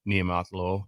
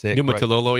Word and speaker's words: Ken Niumatalolo: Jose State with the former Navy coach, Ken Niumatalolo. Yes, Niumatalolo, yes.